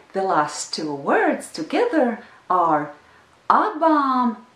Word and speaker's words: ar: It's a single syllable word, ar, ar, ar, ar. You hear the Latvian R in this word.